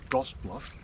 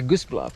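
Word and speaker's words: Gosse Bluff: It's Goss Bluff. Oh, that's a Goose Bluff. You said Goose Bluff?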